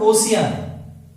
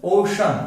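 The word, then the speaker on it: ocean: जैसे नेक्स्ट है ओशन, ओशन, इट्स नॉट ओशियन, इट्स ओशन, Shankar वाला शब्द, ओशन।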